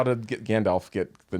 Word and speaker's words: Gandalf: Grandalf I will has a little mispronounce ring your to it. pronunciation. Say that again. Take out the R. Gandalf.